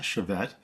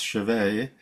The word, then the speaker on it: chevet: It's not chevet. Just like it's not bouquet, it's bouquet, it's chevet.